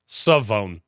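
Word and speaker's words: Shavon: of of JC horn shobon Ravel saone Revel uh by draft day I will figure out that the H is silent he is a better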